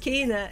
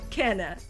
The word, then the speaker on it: Kena: people were surprised that kane is actually pronounced kena and not canna that was actually pretty